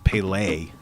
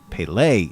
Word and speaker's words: Pelé: say penis I think the way you pronounce is it is Pele Pele emphasis on the second syllable I think it's probably